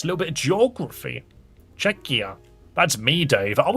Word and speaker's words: Czechia: I think that's pronounced Czechia? I think that's how it's pronounced. Because it's spelt the same way as the Czech Republic, but it's not the Czech Republic, it's Czechia. C-Z-E-C-H-I-A.